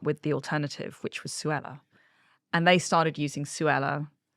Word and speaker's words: Suella: don't where Sue Ellen because also Suella did you think about that you know in politics rhymes with Kruella and and people could